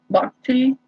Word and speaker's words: bhakti: Bhakti.